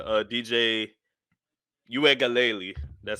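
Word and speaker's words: Uiagalelei: clemson just because like you said uh dj you ain't galeli that's how you say his name you aka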